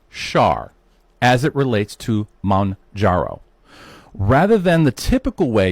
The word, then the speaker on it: Mounjaro: Mounjaro? Mounjaro.